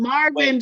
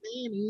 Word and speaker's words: Marvin: Marvin, not Manny.